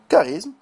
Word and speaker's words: charisme: C H dans certains mots le Che se prononce que exemple dicotomie kiasme charisme autochtone al monochromatique et et cetera ok erreur